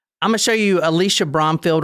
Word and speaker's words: Alisha: I keep calling her Alicia. I'm sorry. It's Alisha, actually. I'm really sorry about doing that. Alisha. Her name is Alisha.